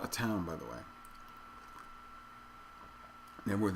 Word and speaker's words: Knebworth: town by the way network is i don't know what it is i don't know why the k is silent i know virtually i've